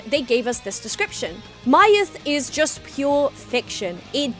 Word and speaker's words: MY-TH: They were very specific about the pronunciation of MY-TH, and it's not myth, because I would read that as Kamen Rider myth. But no, it's Kamen Rider MY-TH. With the little dash being so important.